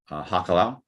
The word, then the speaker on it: hakalau: it well first of all you have to spell it right it's h-a-k a l-a-u hakalau and you can find it mentioned largely